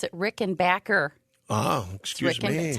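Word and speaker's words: Rickenbacker: and they pronounce it Rick and Backer oh excuse me Rick Tom Petty said everybody's been pronouncing it wrong it's Rick and Backer oh he's got to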